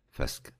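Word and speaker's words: fusca: في ناس بتنطقها فاسكا وفي ناس بتنطقها فوسكا، إنما هي الأصح لامينا فاسكا.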